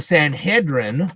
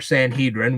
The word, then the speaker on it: Sanhedrin: They not only controlled the Sanhedrin, or Sanhedrin, which depends on how you want to pronounce it, and the temple treasury, which a lot of people don't know.